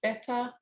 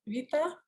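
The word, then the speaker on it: Βήτα: So the B in Greek is pronounced V. If anyone wants a Greek lesson, so it's not beta, it's a Vita.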